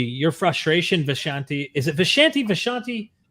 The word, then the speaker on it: Vishanti: frustration vashanti is it vashanti vashanti how do you like it uh I pronounce it the way that they do and the Doctor Strange Comics which is where I took it from is vishanti okay banti you your